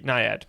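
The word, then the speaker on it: NIAID: it's that bad uh fauci's n-a-n-i-a-d-i-n-a yeah okay nayad there we go funding uh and i helped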